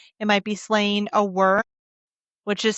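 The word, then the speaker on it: wyrm: For others, it might be slaying a worm, which is spelled W Y RM the exact same way that it is spelled in Acitar by killing a worm or a demon.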